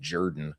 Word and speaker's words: Jordan: Last name looks like Jordan, pronounced Jordan.